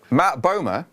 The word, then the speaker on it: Matt Bomer: Anyway, Matt Bomer, important to pronounce that one properly, he is voicing the